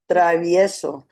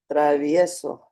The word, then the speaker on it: Travieso: You didn't pronounce all of the vowels. Travieso. Travieso.